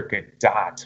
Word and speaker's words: Gadot: wonder kid Oh wonder good dot wonder good I'm gonna say good dot now on because that's how a gal gadot pronounces her name so I'll give you